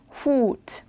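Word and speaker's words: Hut: 헛 아니고 후트. 우 발음이 나야 되겠죠.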